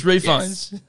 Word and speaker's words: Ralph Fiennes: menu featuring Ralph Venus actually it goes refines for some reason to pronounce the L on this but oh yes we totally had this conversation the last time we did it it's refunds take you with me